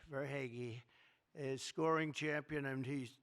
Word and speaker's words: Verhaeghe: I could only pronounce that name because I heard it so many times during the series. I said hair is right. I heard that name so much, Verhaeghe.